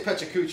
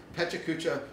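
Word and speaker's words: Pecha Kucha: Yeah, I would say Pechacucha, and everybody says that's wrong. But I think it should be pronounced Pechacucha.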